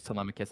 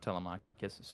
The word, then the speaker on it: Telemachus: It is Telemachus. It's not Telemachus.